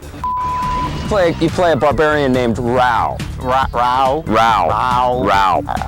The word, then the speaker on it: Rao: You play a barbarian named Rao. Rao? Rao. How do you spell that? R-A-U. I thought his name was Kri. No, it's Rao.